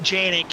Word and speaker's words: Janick: So we have Evan Janick is how you pronounce the last name.